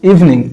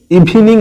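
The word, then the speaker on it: evening: Since the ইভিনিং, এটার উচ্চারণ ইভিনিং নয়, ইভিনিং, ইভিনিং।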